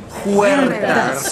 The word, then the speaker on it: Huertas: Huertas. Everybody together and roll your R's. Huertas.